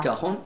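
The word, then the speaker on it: cajón: que je le dise normalement on l'appelle le cajon ça s'écrit le cajon voà et ça ça se prononce le r donc c'est le Caron c'est un instrument beaucoup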